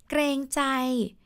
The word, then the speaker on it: เกรงใจ: Greng-chai. So this is.เกรงใจนะคะ and the word เกรงใจนะคะ it's spelled สระเอกอไก่รอเรืององูเกรง because it's a cluster กอไก่ and